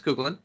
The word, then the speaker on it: Coughlin: between jeff cobb and alex cooglen coughlin coughlin that's how they pronounce it sorry yeah yeah yeah